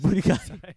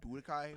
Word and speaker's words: Budokai: He said, "Booty guy, Budokai. The correct way to say is Budokai, but booty guy, but whatever, I'll let it rock.